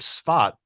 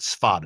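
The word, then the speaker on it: Tzfat: barrage of rockets that struck the city of spat S a f d but Israelis pronounce it spat it looks like safed but Israelis say spat in the upper Galilee region a little deeper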